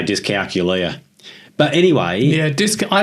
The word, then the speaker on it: dyscalculia: Ghana people so Bill how should we be pronouncing this disc calula disc calcula what uh it is dis calula or disc calcula depending on how you say it the pronunciation